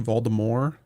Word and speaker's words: Voldemort: Did you know the book say it was actually Voldemort? He did. Like the pronunciation.